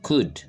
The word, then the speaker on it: could: Okay, the letter L is silent. La lettre L ici est une lettre muette. On ne dit pas could, but we say could.